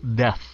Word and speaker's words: death: chữ Death không no Nếu nói nhanh là Death vậ thế Death yeah nó hơi l lạ tí xíu Death đừng có đừng có đóng cái môi mình lại phát âm cái chữ đó Death chưa kịp đóng môi mình phải xì nó ra Death Al What else